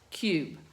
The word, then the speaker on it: cube: All right, let's put a silent E down here. And let's change it to the U sound. Cube.